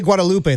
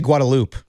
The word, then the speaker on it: Guadalupe: They don't say Guadalupe. They say Guadaloop.